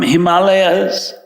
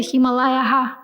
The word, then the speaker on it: Himalaya: Saraswati River was flowing from Himalayas. Hima is ice. Alaya is a place. Himalaya is the correct pronunciation.